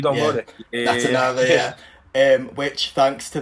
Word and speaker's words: Natanavā: So Natanavā, is that the correct pronunciation? Yeah, yeah, you don't go Yeah, there. Yeah, Natanavā, yeah, yeah.